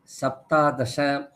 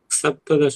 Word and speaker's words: सप्तदश: एकादश द्वादश त्रयोदश चतुर्दश पञ्चदश षोडश सप्तादश अष्टादश नवदश विंशतिः। सप्तदश में सप्तादश नहीं है, सप्तदश, ओके सप्तदश। वो केवल अष्ट वाले में ही आता है।